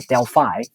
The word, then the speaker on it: Delphi: which is located in Delphi, or Delphi, according to Greek people. That's how they pronounce it.